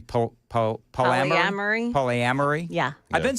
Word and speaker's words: polyamory: He said, have you been following this Paula Maury story? And I said, no. Who's Paula Maury? I was mispronouncing polyamory.